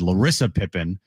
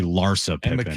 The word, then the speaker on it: Larsa Pippen: I said it's I said Lissa Pippen and it's actually Larsa Pippen.